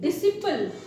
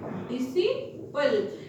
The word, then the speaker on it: disciple: अब हम C को साइलेंट कहाँ कहाँ होता है उसे देखेंगे, जैसे कि DISCIPLE, डिसिपल। इसे क्या पढ़ते हैं? डिसिपल।